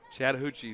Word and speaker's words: Chattahoochee: But I didn't want to mispronounce the name of the river. Chattahoochee, the Al Jackson What do you say, 5?